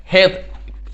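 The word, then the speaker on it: hedge: Grass ऊपर कहेंगे poet यहां पर, हेज, HEDZE, हेज। इसमें डी का उच्चारण नहीं होता है, हेज मतलब होता है झाड़ी।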